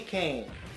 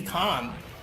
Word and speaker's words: Kane: of Fighters champion Billy Kane actually bro it's just pronounced Billy KH oh um right well anyways after defeating Billy con you don't have too